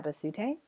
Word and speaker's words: Abasute: it's my name, Abasute, and I spelt it out there for you guys. Abasute. That's how you say that.